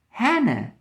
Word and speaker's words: Hannah: Hannah. Hannah. Do you remember? Hannah. The first one is pronounced. The last one is not pronounced.